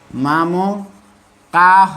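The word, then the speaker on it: মামকাঃ: মা অনুরূপভাবে মা মকা, মামো কাহ না হয়ে উচ্চারণ হবে মামকা, হালকা হ উচ্চারণ হবে মামকাহ না হয়ে মামকা উচ্চারণ হয়ে ছেড়ে যাবে।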